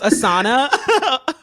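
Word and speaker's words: Asana: cool board I use assana okay some people pronounce it ASA which I think is nuts um but I use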